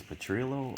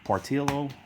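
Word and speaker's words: Partitio: follow her Agnew um I think it's Petrillo uh if I'm not mistaken um partillo I'm saying Petrillo partillo I think that's how you pronounce it he's more of a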